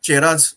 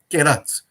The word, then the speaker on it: Cheras: They are Pandya from Chennai region, Chola from Tanjavur region, Cheras, if you are pronouncing chemistry and not chemistry, then we have to pronounce this word as Cheras, no, Keras.